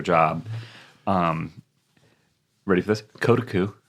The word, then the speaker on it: Kotaku: um ready for this kotoku because that's how I've been pronouncing it for forever I used to say Kotaku but I was wrong yeah it's true kotoku